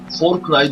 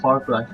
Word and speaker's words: Far Cry: Cry öğrenmeyi öğreneceğim herhalde far 3'e for Cry diyordum ne derse for Cry 3 diyordum for Cry galiba zaten yok far diye okunuyormuş Far Cry ben bir ara araştırdığım